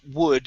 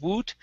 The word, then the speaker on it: would: alyssa's okay alice's and we want to practice wood as well instead of woot wood alyssa's eyes would get